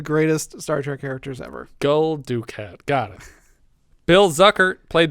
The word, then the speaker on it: Gul Dukat: He's Lopez in Tango and Cash, and he's Gul Dukat in Deep Space Nine. Am I pronouncing that correctly? No, you are not. I just said it as wrong as possible to watch Richard shudder. Gul Dukat.